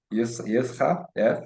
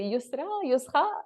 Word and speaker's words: Yousra: And yes, so thanks again, Yousra, for the opportunity. Thank you. I one day learn how to properly pronounce your name. It's fine. You did. You said it the French way. Say Yousra.